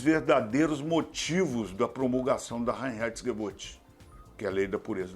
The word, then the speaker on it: Reinheitsgebot: vai explorar os verdadeiros motivos da promulgação da rainha add boot que a lei da pureza da cerveja aliás